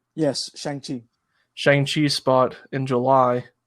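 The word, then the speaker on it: Shang-Chi: disney took shane how do you say it shang chi yes shangti shang chi spot in july with black widow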